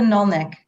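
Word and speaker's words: Anirniq: Am I doing okay in pronouncing your ward, by the way, Councillor Rutherford? It's a Nulnik.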